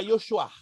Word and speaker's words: Yeshua: é s h u a h u a pronúncia Yeshua e eu chorar o pastor Sim esse essa